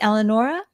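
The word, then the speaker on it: Elanoura: that beautiful business and am I saying it correctly eleanora yes excellent and it's elevating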